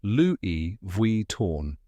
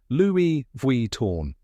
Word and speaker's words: Louis Vuitton: to pronounce it is Loui V torn let's break it down step by step the first part is Louie just like the French name Louie and the second part